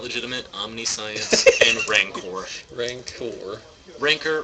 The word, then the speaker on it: Rancor: Omniscience and Rancor. Rancor. Ranker rhymes with ankor.